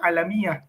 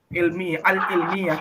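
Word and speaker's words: العلمية: Anak kayak antum tuh waktu ini anak bacanya alamiah ya. Nah, Sama anak karena anak nggak tahu ini apa artinya. Harusnya ini ilmiah, al-ilmiah tuh. Ya, ilmiah tuh.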